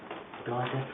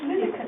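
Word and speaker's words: Lidice: Plan to replant some central bedding area in Dideca or Lideca, as it's pronounced from. We never know. Well, it's Lidica.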